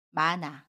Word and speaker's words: 많아: 발음 해요 예를 볼게요 만화를 보면 격파 침 이은희 흙과 모음 아가 만납니다 그러면 마나라고 받은 에요 받침 히 s 은 아름 하지 않고요 가칭 니은 은 이응 자리로 이동을 해서 나 로 발음합니다 그래서 많아 라고 발음 에요 또 다른 해볼게요 끊어